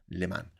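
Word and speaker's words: Léman: Yeah, in French it's called Liman.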